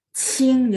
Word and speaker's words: qing: Qing, jadi bacanya Qing.